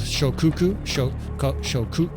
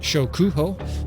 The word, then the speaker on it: Shokuho: I have the battle size mod turned off because we've been fiddling around with Shokuku. Man, I'm sorry to mispronounce it. Shokuho, this amazing Japanese overhaul mod, and so we only have like 200 and something troops on the screen.